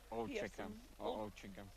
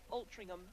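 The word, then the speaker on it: Altrincham: Next games we have on court A, we have Nottingham Forest versus Ultrum I cannot pronounce it. Ultringam Ultringham. Ultringham, thank you.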